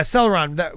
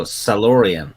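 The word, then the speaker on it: Salloreon: Yeah, Celeron. Was that the... No, Salorian.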